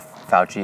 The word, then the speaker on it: Fauci: bunch of little demigods like Fauci or Fossey or however the fuck you say his name. Fauci. And he was kind of this little. I always imagined Fauci as being this like,